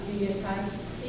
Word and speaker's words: Vida Teich: To correct a teacher, that it's pronounced Vida Teich.